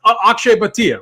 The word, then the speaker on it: Akshay Bhatia: I mean, I butchered the name, and then Snyder obviously butchered the name as well with our boy Akshay. So it's Akshay Bhatia, right?